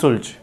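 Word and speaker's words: Schultze: इसके बाद next scientist है मैक्स सुल्ज।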